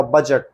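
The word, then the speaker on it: budget: बी बजट साइल इसमें D silent रहेगा बजट बजट ब्रिज पुल मिजट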